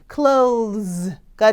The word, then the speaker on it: clothes: clothes 발음이 중요하죠. 여기서는 또 th가 유성음이네요. 네, 발음하는 거는 입모양은 똑같은데 소리를 얹히시면 돼요. the 이렇게 clothes가 되는 거죠.